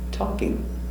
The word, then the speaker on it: talking: Talking. Taw. Talk. Talkie. Talking. Simple action, talk. Continuous, talking. Remember, L is silent, no L.